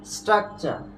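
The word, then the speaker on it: structure: তাহলে হবে কি স্ট্রাকচার কি হবে বলতো সঠিক উচ্চারণ স্ট্রাকচার এরপরে দেখো আমরা উচ্চারণ করি কি লেকচার কিন্তু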